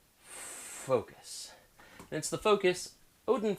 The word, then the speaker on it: FoKoos: company called focus yes this is pronounced faux cuss focus that's the focus odin